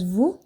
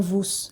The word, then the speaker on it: vous: Aí depois nós temos vous, também mesma regra. Escreve igual, né? Só a primeira letra que muda, então vous. Não falo vos, é vous, eu corto o S ali.